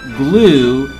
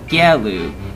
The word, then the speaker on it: Gelu: Not Glue, G-L-U-E, but Gelu, G-E-L-U. Some people will probably call him Glue for some reason, like, hello, Glue! Like that.